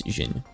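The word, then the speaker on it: Djinn: Most often written as the Xin in English, but pronounced as Xin. The D was actually pronounced a long time ago.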